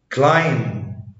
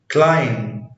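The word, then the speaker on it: climb: لا ينطق حرف بي اذا جاء قبله حرف ام، يعني حرف بي ما بينطقش لو جه قبليه حرف الام. مثل كوم كلايم بوم دام بلامر. اجين كوم كلايم بوم دام بلامر. يبقى ان هو عشان البي جه بعد الام ما تنطقش، بس في استثناءات للقاعدة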